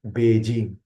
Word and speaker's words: Beijing: this as an isue this means that Beijing is pronounced like Beijing not like be hi char what it B the